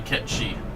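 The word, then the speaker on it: Cait Sith: Oh, and FF7 Rebirth is Kate Sith. But it's really Ketchi. You know what? I'll consider this as separate from Kate Sith from FF7. Call it Ketchi.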